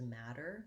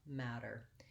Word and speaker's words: matter: she is um because we also use a flap in that word which is basically we say a light d we don't linger on it it's not mad der or a matter with an aspirated t it's just a light little tap up matter you can get help